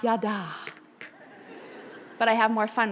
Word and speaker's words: yada: Bible scholars in the room it is correctly pronounced yada but I have more fun with it the